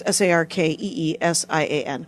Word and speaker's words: Sarkeesian: And Sarkeesian is Sarkeesian, which is exactly how I would have spelled it, because phonetics.